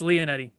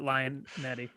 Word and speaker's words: Lionetti: No, it's Lionetti, but everyone pronounces it Lionetti.